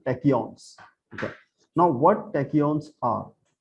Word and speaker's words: tachyons: Okay, we can pronounce it like tech, T-E-C-H tech, you know, tachyons.